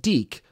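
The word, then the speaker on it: DiC: it was on, just being the start of Deke Entertainment's involvement in Mario content. Yes, this is pronounced Deke, you weirdo.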